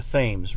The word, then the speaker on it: Thames: was by the Tiber London by the Tim's they mispronounce it over there because they can't speak American it's the Thames River we all know that New